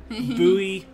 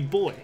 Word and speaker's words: buoy: Look, you're not wrong to pronounce buoy that way. That's just how people say buoy when they're in America. It should be boy.